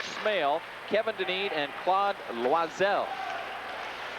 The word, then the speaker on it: Loiselle: kevin dunedin and claude loiselle formerly known as claude loizel but he's asked that that uh pronunciation be more louis the french pronunciation hampshire along the boards